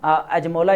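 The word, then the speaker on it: Acemoğlu: पर जो है वो डैरन अजमोला, इसका बेसिकली नाम है डैरन अजमोला, ठीक है, एस्मोला अमेरिकन प्रोनाउंसिएशन हो सकती है।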